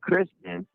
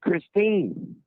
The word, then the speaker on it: Christine: You kept saying Kristen, and her name's Christine.